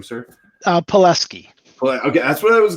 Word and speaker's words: Pelesky: Pelesky.